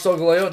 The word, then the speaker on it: Solgaleo: And then I watched the anime and it's Solgaleo.